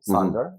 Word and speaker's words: Sonder: So last year you released your latest album, Sonder. Exactly. Do I pronounce it correctly?